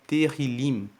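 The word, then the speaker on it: Tehilim: hebraico se chama na Bíblia original se chama terril que se escreve t e h i l i m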